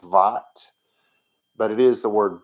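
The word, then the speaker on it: בת: uh we usually say bot but because it's in the sentence the way it is we would pronounce it with the harder V sound vat but it is the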